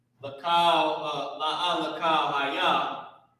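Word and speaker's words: לכל: Like not C-O-W, but K-A-L. Kal. Alright? And that's pronounced lakal.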